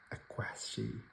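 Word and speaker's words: Aqshy: No Rest, and a foil Embrace of Aquashi.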